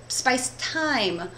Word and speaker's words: thyme: us would say but we have these rules about when it doesn't say th for example uh if you've ever cooked with the thyme or you've ever been